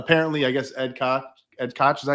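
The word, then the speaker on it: Ed Koch: Uh that's uh and then and uh apparently I guess Ed Cot Ed Cotch, is that how you pronounce his name? Yeah. Right. Ed Cotch. Ed Cotch. Yeah. Yeah, that's how you pronounce him.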